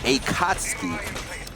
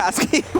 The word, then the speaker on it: Akatsuki: It's Akatsuki. Oh, so we've just been butchered. Akatsuki. We've been saying this so wrong, Blue. Close. So Akatsuki. Where's the U at? Akatsuki is silent. That's exotic. Yeah, I've never heard of a silent U before.